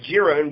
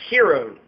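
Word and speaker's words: Jiron: It's spelled with a J. It looks like Giron, but Hiron.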